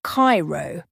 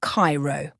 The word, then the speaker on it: Cairo: Imagine you're in the city of Cairo in Egypt, and you're asking for directions, but you pronounce it like Cairo instead of Cairo.